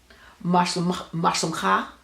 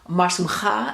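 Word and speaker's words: Mah shlomcha: That's a good example of the guttural sounds. So again, for a guy, it would be Mashlumcha, and for a woman, it would be Mashlumech.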